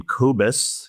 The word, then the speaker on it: Kobus: I pronounce his name Kobus.